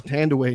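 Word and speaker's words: Thandiwe: Her Tandy is what she went by for most of her career because someone fucked up her name because they couldn't pronounce it or spell it properly. So they went by the shortened version of her name, which was Tandy. But her actual name is Tandaway Newton, which is how she's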